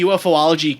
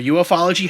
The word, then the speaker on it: ufology: UFO or whatever, but the kind of the UFOlogy community, or ufology, how do you say that, Rob?